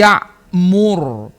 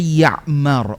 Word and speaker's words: Ya'mur: U bni Umar radhiallahu anhuma liyahiya bni Ya'mur. Bisa pula dibaca ya'mar. Ulun dapati dua cara baca itu.